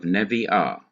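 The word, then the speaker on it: נביאה: Therefore, you cannot keep kames under the nun. You change kames to a simple shua, to enable you to hurry from the first syllable to the last syllable where the accent usually is, and you have nevi'ah, meaning prophetess.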